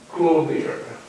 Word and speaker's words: clothier: And the third one, and the last one, is the weaver on clothier. Is this the right way to pronounce clothier?